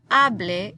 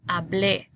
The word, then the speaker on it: hablé: I don't want to hear hable. It's not hable, it's hablé.